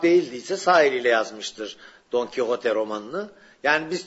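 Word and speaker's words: Don Quijote: diye sağ eliyle yazmıştır don kote romanını Yani biz Türkçede Fransız telaffuzu yla Don Kişot diyoruz onun Normal adı don kote zaten adı da Arapçadan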